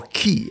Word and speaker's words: Ki: same origin Chi or Ki as it is pronounced in Japanese acupuncture points meditation they